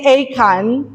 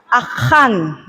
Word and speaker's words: Achan: Okay, so in Joshua chapter 6 and chapter 7, I usually say Achan, pero idedadalin mi ti Old Testament kakabsat kung nada mali-mali ti pronunciation nyo, dapat kanukit Achan.